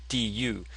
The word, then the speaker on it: 肚: So the actual pronunciation is 肚, du, but they put this here to assist in the pronunciation.